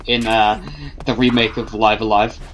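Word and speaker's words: Live A Live: really early on because I didn't know how it was supposed to be pronounced until well they and that had the announcement trailer for The Switch version I went oh it was supposed to be live alive I suppose that makes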